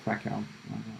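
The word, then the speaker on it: Kraków: I'm from Poland, the south of Poland, to be precise, from a beautiful town called Krakow or Krakow, as they pronounce it in English.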